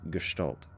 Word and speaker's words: Gestalt: But the ST is like a Stalt sound, which confused me.